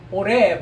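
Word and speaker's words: עֹרֵב: Oreb, right? This is a Hollenbach, right? So O sound, right? So Oreb.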